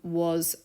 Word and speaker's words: は: learned some basic math phrases one of them was equals which is W this one is also pronounced wa even though it uses the haana